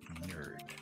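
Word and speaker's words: knurd: What if they became, it's K-N-U-R-D, which I pronounced as nerd.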